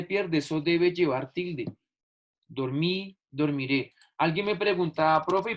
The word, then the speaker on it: dormí: Dormí. La regla real, muchachos, es que esta es una palabra aguda que tiene el acento en la última sílaba y por ello ya tilde porque termina en vocal.